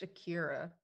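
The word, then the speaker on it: Acara: it called akara a-c-a-r-a it's pronounced akira akira it's how uh someone in italy says a car i know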